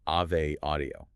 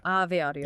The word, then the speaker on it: Ave Audio: And just to clarify the spelling for everyone listening, that is a v e, but it's pronounced Ave, like the Latin Ave Maria. Ave Audio, it's a So,